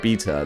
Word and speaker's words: Beta: know dave you realize it's pronounced beta like like the like the alphabet alpha beta i'm like ah that